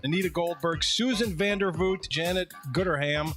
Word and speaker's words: Gooderham: saying that's not my g-o-o-d-e-r-h-a-m how would you pronounce it how else can you pronounce it could you please call him Mr gooderham they just keep going